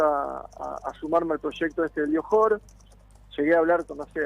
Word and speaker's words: Johor: del Johor, no sé si es Johor o Johor, ¿cómo se pronuncia?